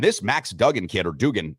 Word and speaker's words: Duggan: And this Max Duggan kid, or Dugan, how do we pronounce his last name? Dugan or Duggan? Duggan. I call him Duggan.